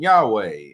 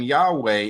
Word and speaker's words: Yahweh: The name Yahweh is the sound of you breathing. That's why they struggle to pronounce it. It's just an inhale and an exhale. It's just the sound of you inhaling and exhaling.